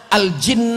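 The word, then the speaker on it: الجن: Asa Arab ribu gitu banyak tulisannya mirip cara bacanya beda Al Jannah AL habbah aljuna al-jinn nah itu tulisannya sama semua Makanya jangan baca kitab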